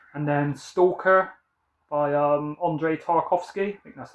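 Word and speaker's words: Andrei Tarkovsky: that one soon and then stalker by um Andre tarkovski that's how you say it so yeah seen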